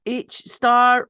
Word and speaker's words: HSTAR: heart hi evina hi your organization is it h star or h s a r or how do I pronounce that our organization is called H star